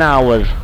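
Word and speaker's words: hour: है that is एन आवर एन आवर एक घंटा वो एक घंटा है यहां पे आवर में एच जो है वो साइलेंट है इसीलिए ओ की आवाज आ रही आवर तो ओ जो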